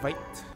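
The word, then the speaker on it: Veidt: But he's now pronounced his name as Vite.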